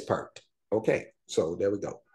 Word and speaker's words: Peart: Neil Peart. It is perked.